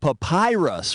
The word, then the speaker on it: papyrus: gus that old egyptian paper stuff is called papyrus which rhymes with the pie pus this pie is delicious